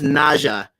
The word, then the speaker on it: Nezha: gonna be talking about the character uh called neja and um okay his name is pronounced naja as in nadj a but i'm gonna call